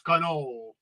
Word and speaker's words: cannoli: You're not supposed to pronounce the I. It's cannoli.